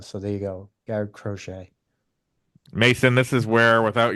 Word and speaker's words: Crochet: Matt, Garrett Crotchet. I believe I've heard him pronounced in a press or announced in a press box under that once, or Crockett. Yes, Garrett Crochet is.